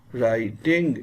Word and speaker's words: writing: Writing. In writing, W is silent.